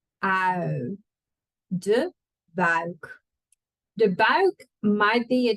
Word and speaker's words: buik: De buik. Make sure you say ui, not au. Ui. De buik.